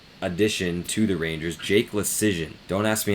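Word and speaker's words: Leschyshyn: to the Rangers, Jake Lecision. Don't ask me how to spell that. It's a bunch of consonants mushed together, but it sounds like decision with an L, Lecision.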